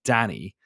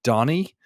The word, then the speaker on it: Danny: of his um but whenever I would say my name is Danny like in my way I say it with my Irish accent Danny Americans think I'm saying Donnie so like my my